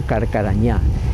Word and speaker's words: Carcarañá: también por los guaraníes ellos en su pronunciación que siempre acentúan la última La Última sílaba le llamaron carcarañá Y actualmente se llama así carcarañá hay un río pero